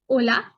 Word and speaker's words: hola: through these words again hola h is always silent remember that buenos dias